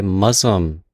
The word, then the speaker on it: Muzzmm: Quickly before the episode starts, I just want to let everyone know that this episode is sponsored by Muslim, Muzzmm. I'm pretty sure it's Muslim's how you say it.